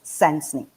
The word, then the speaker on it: Sensenique: called sensing is actually made out of two words one senses number two unique so it is pronounced as sensing now before i go